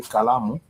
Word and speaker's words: kalamu: So kalamu is a word with 3 syllables. The 3 syllables are ka, la, and mu. The ka has a vowel a, the la has a vowel a, and the mu has a vowel u.